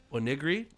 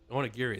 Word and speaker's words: onigiri: right you're making homemade oigi nice is that how it's pronounced onig onigiri onigiri there we go there's an i in there nice not bad look